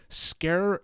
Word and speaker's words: Sker: here we go uh scare scare ritual this is it's spelled sker and then ritual it